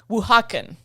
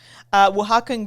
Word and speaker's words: Oaxacan: So this next word I had to pronounce. This is Oaxacan.